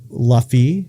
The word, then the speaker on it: Luffy: But it's like, I don't care about the character of Luffy.